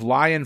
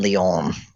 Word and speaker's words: Lyon: or UNESCO oh which of those is in Lyon um make me feel like an idiot for pronouncing lying incorrectly thank you well if you were going